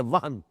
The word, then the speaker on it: وہن: note کر لیجئے، وہن، ویسے یہ کہ تلفظ میں وہم جو ہے بیم کے ساتھ، یہ چونکہ ہمارے ہاں عام طور پر لفظ استعمال ہوتا ہے، آپ کو مغالطہ نہ ہو، یہ نون کے ساتھ ہے وہن، اور وہن ہی سے